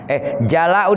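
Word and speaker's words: جلاء: Qalu jala'u huzni bi fathil jim. Hazni. Jala'u dipatahkan jimnya, jala. Bil maddi dengan mad dipanjangkan bacanya jala'u huzni atau hazni.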